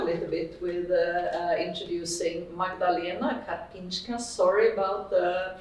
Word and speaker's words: Karpińska: And I will start a little bit with introducing Magdalena Karpińska. Sorry about the pronunciation.